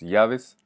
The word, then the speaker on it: llaves: Je vous ai pas mis un mot facile, je vous ai mis las llaves, double L qui se prononce, qui se prononce comme un I.